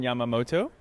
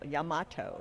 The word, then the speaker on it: Yamato: i have the very talented and lovely yamamoto did i say that right yamoto no wait yamato too many m's yeah because that's common mine is very unusual yamato is the correct pronunciation okay i followed yamato